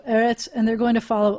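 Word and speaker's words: אֶרֶץ: the vowel the vowel so whenever you have a segolate um the first syllable is always the accented syllable and eretz of the two as so eretz and they're going to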